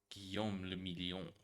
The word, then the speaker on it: Guillaume le Million: If it doesn't rhyme, you're not pronouncing it right. Guillaume le Million.